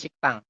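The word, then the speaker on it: 식당: Tulisannya sikdang, dibacanya siktang.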